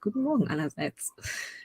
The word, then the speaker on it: Guten Morgen allerseits: Guten Morgen allerseits.